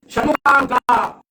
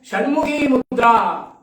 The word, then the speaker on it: Shanmukha Mudra: Shanmukha Mudra. Now in many yoga texts, I have seen pronunciating that as Shanmukhi Mudra. Now I have gone to the original texts. It is not Shanmukhi Mudra, friends.